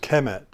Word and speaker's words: Kemet: And so we can now pronounce this as Kemet.